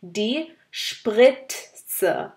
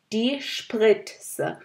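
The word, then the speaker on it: die Spritze: সিরিঞ্জকে বলা হয় জার্মানে ডি স্প্রিটস, ডি স্প্রিটস। আসলে টি আর জেড একসাথে থাকে, টি আর জেড দুয়োটাই উচ্চারণ করতে হবে। এখানে যেমন ডি স্প্রিটস, আপনারা আবার শুনুন, আমি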